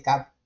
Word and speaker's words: TCAP: acá, el modelo de TCAP. ¿Qué quiere decir? Muchas veces le dice CAP, ¿sí? Sí, sin pronunciar la T.